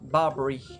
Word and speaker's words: Barbara Allen: Évidemment, comme c'est les sudistes, ils prononcent ça Barbary et pas Barbara.